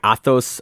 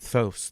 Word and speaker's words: Athos: Next match we have Tainan Dalpra defeating Athos Miranda. Athos, I said. Not Thos. There's no T after it, or there's no H after it. The H is before.